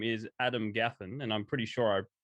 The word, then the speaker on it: Adam Gaffen: you his name is adam gaffin and i'm pretty sure i pronounced that right didn't i adam you did you did it's pronounced just the way it looks yeah cool um how